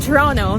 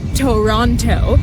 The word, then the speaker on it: Toronto: Toronto, pronounced Toronto, not Toronto.